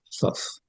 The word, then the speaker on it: Thoth: Salvo que los griegos le llaman Thoth, con dos THs, que pronunciaríamos Thoth.